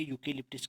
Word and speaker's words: eucalyptus: तो वहाँ पर बहुत बार यह स्पेलिंग पूछी गई है, यूकेलिप्टिस की स्पेलिंग अंग्रेजी में करेक्शन करने के लिए पूछी गई है।